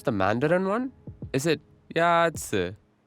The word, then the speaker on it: 鸭子: Is it Yazi? 鸭子 Is pronounced with a first tone.